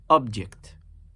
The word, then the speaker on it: object: We naturally emphasize the first syllable when we use this word in reference to an entity, an item, something, an object. However, if I emphasized and placed my nabr on the second syllable and I say object, this now becomes a verb.